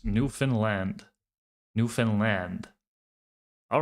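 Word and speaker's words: Newfoundland: Marco, just a note on proper pronunciation for New Foundland. It's New Finland. All right. New Finland.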